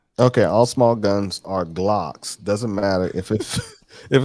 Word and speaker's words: Glock: had um we had g locks he meant that he was trying to say glock he pronounced it g-locks oh i got g-locks